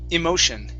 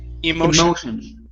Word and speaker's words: emotion: exactly okay um uh pronounce that e at the very beginning emotion emotion emotion okay good and